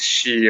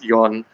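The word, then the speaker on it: 四: the left in Japanese we have two pronunciations for four as well uh one is she one is yon yeah so in certain contexts we do not use the pronunciation because it's similar to death yep that is that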